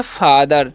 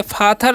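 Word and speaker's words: father: एच ई आर है तो इसे हम लोग पढ़ते हैं फादर ठीक है फाथर नहीं पढ़ना है यहां पर टी एच का जो उच्चारण है द होता है ठीक है और आईएस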